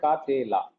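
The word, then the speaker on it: קָטְלָה: Now the end part will be ka te la. Tet will carry simple vocal shiva instead of pata. And then since that simple vocal shiva has to be pronounced, that kamats will carry methek. Look at this display. Ka te la. So because of methek, we can understand that this is not a silent shiva.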